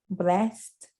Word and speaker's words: BLXST: Can I pronounce his name correctly? BLXST. Blast.